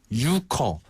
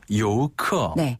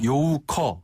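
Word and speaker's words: 游客: 요크 정확한 발음은 요고요 유라는 발음은 잘못된 발음입니다 사실상 한자를 그대로 읽은 그런 표현이라고 볼 수 있죠네 커보 요우커 그냥 이렇게 표준 발음을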